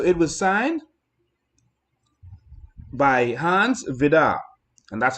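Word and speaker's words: Vide: And so it was signed by Hans Vidar, and that's how you pronounce it. It's spelled V-I-D-E, but it's Hans Vidar. It's how you pronounce it.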